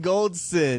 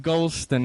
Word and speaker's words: Goldson: Deshaun Goldson. He went to Tampa. Not Golston, apparently. I've been saying it wrong this whole time.